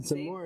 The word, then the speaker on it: Zamore: Is it Zamore is how I would pronounce it.